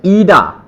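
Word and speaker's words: Ida: Next, I वी ईडा, आई नहीं बोलना, ई बोलना है इसको, इसका साउंड, इसको बोलते हैं ई वी ईडा, ईडा।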